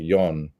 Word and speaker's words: John: because we pronounce it yon.